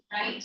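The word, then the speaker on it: lithe: Light means strong, muscular, graceful. Into how do you pronounce? L-I-T-H-E. What is pronounced? Light.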